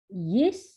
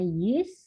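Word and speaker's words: ישראל: Dan yang terakhir ini ada shefa di bawah sin, bukan shin tapi sin, maka ini akan dibaca Yisrael. Oke, ini tanda titik 2 di sini itu berarti tanda titik. Gitu ya. Ini bacanya, saya ulangi, ini bacanya Yisrael.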